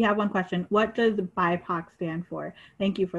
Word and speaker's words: BIPOC: I didn't know how to pronounce it at first either, but it's pronounced BIPOC.